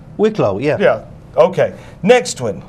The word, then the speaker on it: Wicklow: are you talking about he's got the pronunciation wrong where's that whiplaw wicklow yeah yeah okay next